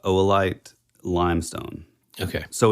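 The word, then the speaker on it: oolite: stone it is no it's it looks like uite but it's actually pronounced oite Limestone okay so it's somewhat like um I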